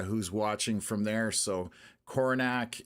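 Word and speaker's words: Coronach: So, Coronac is definitely uh not how I would have pronounced it.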